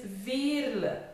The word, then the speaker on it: Veerle: my name is is the pronunciation is ver so it's not ver or it's V it's typical Flemish typical Flemish name and very common here